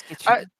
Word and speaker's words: Kiching: Is it pronounced Keking? Kiching? Kishing? Kitching. Kiching. It's kitchen.